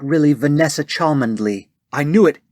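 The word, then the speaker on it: Cholmondeley: is not really vanessa chalmandly i knew it it's supposed to be pronounced chumly right that's not the point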